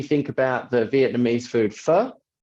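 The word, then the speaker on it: phở: about the Vietnamese food fur you spell it p-h-o but you pronounce it fur and it's just the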